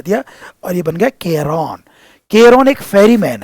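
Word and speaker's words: Charon: लिख लेना आप लोग इन रिवर को पार करने के लिए एक फरी मैन है जिसका नाम है केरोन इसका प्रोनाउंसिएशन ध्यान रखना मैं अच्छे से देख कर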